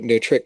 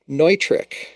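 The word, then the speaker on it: Neutrik: re-educating me that it's Neutric connectors, just like Neumann microphones. NEU is the first syllable when you look at that. And it's a German pronunciation, so it's Neutric, and I shall not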